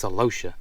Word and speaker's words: celosia: This is celosia. I think that's how you say it. Or celosia. MaryCarl told me it's celosia, and she's right.